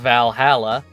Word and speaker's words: VA-11 Hall-A: you kidam Miki Valhalla the name sounds silly and a bit hard to pronounce good thing it's actually called Valhalla the funny numbers and letterings are just a code anyway I visited this